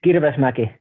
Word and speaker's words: Kirvesmäki: It's Kirvesmäki.